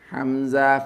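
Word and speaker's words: همزة: This you pronounce as hamza fatha a. Hamza fatha a. Hamza fatha a. This is the pronunciation of hamza.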